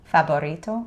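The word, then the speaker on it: favorito: Faborito. Very good. Right. So remembering the V is pronounced like a B. Fabul. Fabito.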